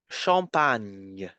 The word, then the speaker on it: champagne: You have to pronounce the N, the N sound, N, and then pronounce Y, like in yacht, huh? Y. So, Y, Y, Y. In the word champagne.